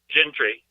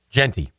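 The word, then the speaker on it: Jeanty: So okay, tonight we're going Gentry. Genty. Mm-hmm. Genty. I always mispronounce it.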